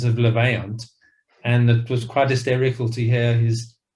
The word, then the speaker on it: Levaillant: The narrator had said Levalin testicular, and obviously not being a birder, we went back and said it's got a slightly more French sound, and that's how you pronounce it, because he'd never pronounced these words before.